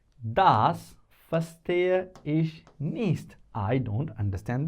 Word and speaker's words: verstehe: But important is that verstehe. Verstehen is the verb which means to understand. Das verstehe ich nicht. Das verstehe ich nicht. Das verstehe ich nicht. Remember, we is pronounced as F, or the real one